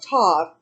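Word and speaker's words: Ptah: consort and wife of todd which is called p t a h the p is silent tall was an old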